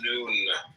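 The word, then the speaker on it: nun: and deaths comment on none none pronounced noon transcribed as and the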